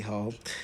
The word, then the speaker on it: Heaux: It's on her latest record, The Hotels, which is spelled Heaux, a classy hoe, which we all have a classy hoe moment.